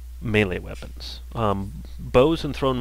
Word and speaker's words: melee: melee uh which that's how you say it melee um and um so and you try and